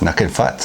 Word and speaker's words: Nukin Futz: Nukin Futz.